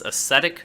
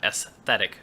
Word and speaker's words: ascetic: This is Ascetic Visionary, not Aesthetic Visionary, as some people might be prone to mispronouncing.